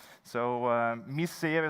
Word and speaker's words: Misseeuw: Misseeuw is how you pronounce it in Flemish.